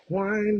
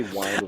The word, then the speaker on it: wind: We did justice for that song because I hate when they say wind. The Americans say wind with a I know. I D, remember we should say wind, and we're like, wind and no.